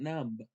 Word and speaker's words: numb: those 's how about num not num you don't say the b remember it's silent no but I want